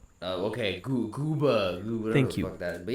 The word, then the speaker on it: Gooba: Say it right, bro. What is it? Gooba. Not Goomba. What did I say? Goomba, like Super Mario Goomba. Yeah, just don't disrespect 6ix9ine like that, please. It's Gooba.